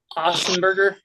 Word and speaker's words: Otzelberger: I mean, if I'm Ossenberger, right? That's how you pronounce it. Otzelberger, Yeah, if I'm him, I'm not sit risking him.